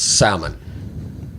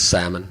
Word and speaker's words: salmon: No, it's salmon. You don't pronounce the L. It's salmon.